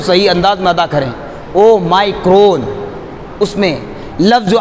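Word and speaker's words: Omicron: لیں اس کو صحیح انداز میں ادا کریں۔ او مائکرون، اس میں لفظ جو آ رہا ہے اس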